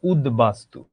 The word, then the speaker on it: উদ্বাস্তু: তেমনি উত যোগ বাস্তু, এটার উচ্চারণ কি হলো? উদ্বাস্তু।